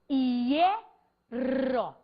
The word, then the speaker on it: hierro: Só que a prosódia, a pronúncia maior, não está recaindo sobre o HI. Ela está recaindo sobre o E. Então, imagine você que a sílaba é isso, hierro.